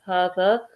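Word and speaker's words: هذا: So it says Hada is pronounced as Hada, but it is written without the first alif, okay?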